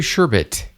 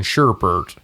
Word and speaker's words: sherbet: Brought to you by Olipop Raspberry Sherbet. There's no R in sherbet. Well, there is. There's not two R's in sherbert. Sherbet.